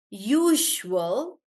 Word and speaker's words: usual: These words, they are the sound. It's like a combination of J and Z. J. So, it's supposed to be pronounced as usual, casual, measure, treasure, pleasure,